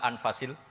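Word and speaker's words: أنفس: qutub selalu saya baca anfasil karena maknanya kitab terbaik kalau kitab terbaik bacanya bukan anfus tapi apa kanvas ya nanti kamu debat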